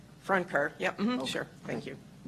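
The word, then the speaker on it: Francoeur: If you ever took high school French, the last part is cur. Is that pronounced Francor? Franker.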